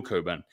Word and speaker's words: Cockburn: And the man who has the plan is actually Coburn. He spells his name Cockburn. It's pronounced Coburn. I double checked this. Admiral Coburn.